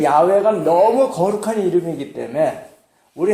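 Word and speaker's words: 야훼: 우리가 여호와라고 부르는 그 여호와는 사실은 아 원어로 그 원인 그 발음은 소리는 야외입니다. 여러분이 아시다시피 근데 그 야외가 너무 거룩한 이름이기 때문에 우리 한국 사람들하고 비슷해요.은 이름을 함부로 이렇게 부르지 못하잖아요.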